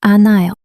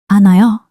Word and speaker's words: 않아요: It's written 않아요, but it's pronounced 않아요. Here, ㅎ is not pronounced before the following vowel. And ㄶ links to the next syllable. 않아요.